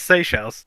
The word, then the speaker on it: Seychelles: how you pronounce it? Seychelles. Yeah, it's Seychelles.